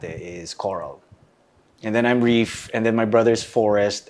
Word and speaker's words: Reef: my name which is Reef you know do more water stuff by the way his name is spelled as in reef reef re e e f yes right so